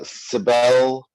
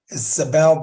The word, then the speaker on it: Isabel: say Mark Christie uh Sabel uh I'm sorry if I'm not pronouncing that right oh okay Isabel here Sabel okay Allison